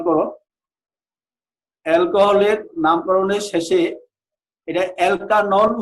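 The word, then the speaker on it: alkanol: অ্যালকোহলের নামকরণের শেষে এটা অ্যালকানল উচ্চারণ হবে।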